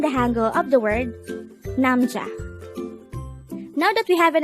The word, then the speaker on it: 남자: hango word number 124 namja namja this is pronounced as a two syllable word the first syllable is nam the second syllable is cha pronounce it with me namcha namja namja is